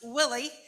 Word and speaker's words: Willey: about uh me I am and it's pronounced Willie which is fine it's mispronounced quite often